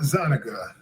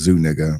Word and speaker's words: Zuniga: Gabriella Zoniga, the woman who sued It's actually pronounced Zuniga, but whatever.